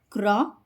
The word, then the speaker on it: crochet: In these words, we pronounce CH as sh sound. Machine, machine. Parachute, parachute. Chef, chef. Crochet, crochet.